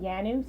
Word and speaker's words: Nyanue: Nyanue here with the Everyday Entrepreneur vlog. I have the amazing. How do I say your last name? Nyanue, so the first N is silent. Nyanue.